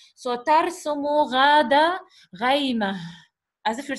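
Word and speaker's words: غيمة: We pronounce it like ha at the end because there is a punctuation mark. So, tarsumu ghada ghayma.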